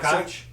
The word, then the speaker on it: Koch: If you spell it K-O-C-H, people are going to pronounce it probably Koch. Koch, yeah. Is what they're going to say. Yeah. But if your name is Koch, you spell it C-O-K-E.